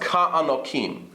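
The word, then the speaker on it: כַּעֲנָקִים: This kaf gets an ayin, a patach over here. So it's pronounced ka'anokim. This means like giants.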